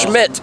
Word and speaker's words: Schmidt: They call you different things, but it's Schmidt.